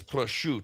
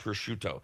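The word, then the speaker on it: prosciutto: It's prush, not pushut.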